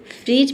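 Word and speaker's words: fridge: तो डी के बाद अगर जी ई दिखे तो वहाँ पे डी लेटर क्या रहता है, साइलेंट रहता है। ठीक है, यानी कि डी को हम नहीं पढ़ते हैं।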